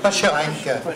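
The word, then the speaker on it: Pacherenc: Pachrank. Ah, venez-nous le prononcer.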